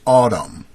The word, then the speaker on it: Adam: Adam with hyphen, or a accent over each A, pronounced Adam.